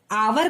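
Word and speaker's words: hour: क्योंकि यह एच जो है साइलेंट होता है, हम एच को नहीं पढ़ते, हम क्या पढ़ते? आवर पढ़ते हैं और आवर ओ से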